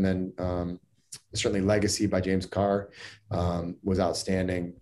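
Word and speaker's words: Kerr: what's up it's james carr it's spelled k-e-r-r but it's pronounced car i believe awesome i'll check that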